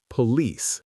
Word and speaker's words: police: The correct answer is B, stressed on the second syllable, hotel, event, police.